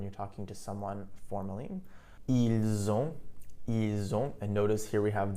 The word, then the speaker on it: ils ont: You'll also notice that when I pronounced it, ils ont, elles ont, the S in il, elle, which is normally silent, was actually pronounced, and I pronounced it like a Z.